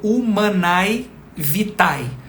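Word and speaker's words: Humanae Vitae: vite ela se escreve inclusive algumas pessoas falam desse modo Umai vitai mas o a em latim unido ao e se torna uma única e o som né que que que é pronunciado o som vocálico pronunciado é somente do e a então uma junção né dos dois fonemas e sobrepõe-se o e então o Man vite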